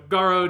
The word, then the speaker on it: Garrod: because he's go so so garrod is what i'm going with i feel like i just like the fact that the o is emphasized because it's got to be a lot lengthened yeah it has to be that long oh um yeah it's